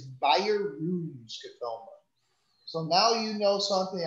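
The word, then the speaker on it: Bjerrum: five percent is right it is by your room skatoma so it's not jarrah it's not budgerum it is buyer roon so now you know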